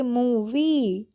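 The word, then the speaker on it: movie: ठीक है जैसे कि एम ओ वी आई ई लास्ट में ई है तो हम इसको क्या पढ़ेंगे मूवी मूवी ओके उसी तरीके से क्य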